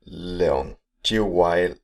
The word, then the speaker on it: Leung Chiu-Wai: Maybe you have to help me with the pronunciation. So it's Leung. Chiu-Wai.